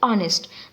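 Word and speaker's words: honest: ये तो start H से है, पर हम इसको प्रोनाउंस क्या करते हैं? ऑनेस्ट.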